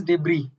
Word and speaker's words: debris: It is debris.